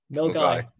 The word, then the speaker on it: Milngavie: say, I'm not even going to try and pronounce it myself, Alistair. Is it Milngavie? Milguy.